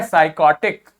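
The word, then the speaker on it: psychotic: फिर देखो PSY लिखा है लेकिन इसके लिए यहां पर प्रोनाउंसिएशन क्या लिखा है साय, कॉटिक, तो क्या हो गया साइकोटिक।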